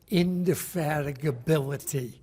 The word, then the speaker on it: indefatigability: has that quality called indefatigability which is seven syllables right uh indefatigability means